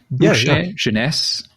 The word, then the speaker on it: Genesse: go because Fran and I hope I'm pronouncing that decently janess is that okay y totally correct yeah he started his